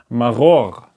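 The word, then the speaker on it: מרור: So it's ma, ma, ro, and then it continues to the next consonant, r. Maror, maror.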